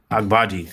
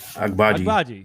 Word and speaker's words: Agbaji: How'd I do on that pronunciation? I did it all right. Yeah, Agbaji. Agbaji, yeah. There you go.